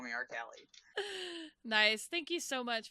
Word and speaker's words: Rcalielie: right cool so and what's your twitch it's pronounced just call me art Kelly nice thank you so much for joining me